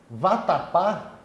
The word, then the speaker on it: vatapá: Por exemplo, vatapá é uma palavra oxítona, porque a sílaba tônica é a última.